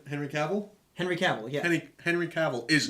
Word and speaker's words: Henry Cavill: Henry Cavill, yeah.